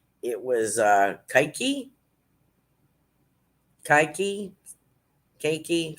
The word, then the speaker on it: keiki: was uh kaiki kaiki keiki something like k-e-i-k-i sort of like reiki but it's sky key i think i'm sure i'm